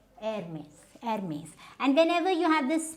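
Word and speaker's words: Hermès: Then we have, now this is not Hermes, this is Hermes.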